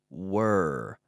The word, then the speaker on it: were: were so here really we have the whir sound you have to be careful with this sound the pronunciation can be difficult whir whir whir were you